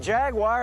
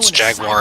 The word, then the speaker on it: Jaguar: is really driving home the dichotomy of people pronoun Jaguar as if it has an ey in it and the people who don't at least we don't have the British pronunciation going on here which always drives me up the wall G the Jaguar Jaguar